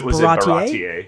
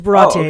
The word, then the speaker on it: Baratie: They went with the French pronunciation. It is Baratie. It is Baratie.